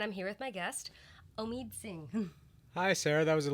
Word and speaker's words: Omid Singh: I'm Sarah Albritton, and I'm here with my guest, Omid Singh.